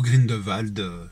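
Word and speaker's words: Grindelwald: sur les crimes de green world ou green de valdes si on prononce à la française donc le premier les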